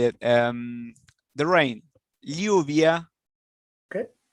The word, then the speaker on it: lluvia: The rain, lluvia. Okay. Here in Argentina we say lluvia, like a S and an H.